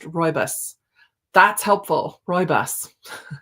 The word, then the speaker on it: rooibos: Phonetically, it's pronounced rooibos.